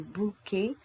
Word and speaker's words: bouquet: We don't say bouquet, we don't say robinet, we say bouquet, robinet. Pourquoi? Parce que le E-T en français, il est prononcé E. Why? Because the E-T at the end, it is pronounced E.